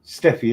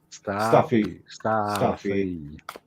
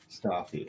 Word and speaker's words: Stathi: Steffi, is it right? I couldn't remember. I didn't know it was Stathi. Stathi, right? Stathi. Right.